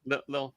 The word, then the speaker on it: Lille: as a blockchain as a service meetup in lille france did i say it right a little yup little okay yeah uh flux co-founder to demonstrate how